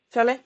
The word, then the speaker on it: Fairley: Et on suit un duo, Bliss et Fairley, comment tu le prononces? Parlez, Fairley? parlez, ouais.